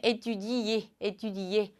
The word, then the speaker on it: étudier: 이 동사를 가져온 이유는 여기 막 모음이 있으면 사람들이 괜히 어떻게 읽지? 헷갈려 하시곤 하는데, 그냥 étudier 해주시면 됩니다. 공부하다.